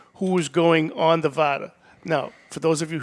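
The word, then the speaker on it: Vara: Yeah, and the VADA is spelled V-A-R-A. It's not Right. It's VADA. V-A-R-A.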